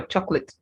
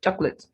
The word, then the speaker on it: chocolate: salad chocolate same for chocolate so the second o is not pronounced just chocolate then yogurt now this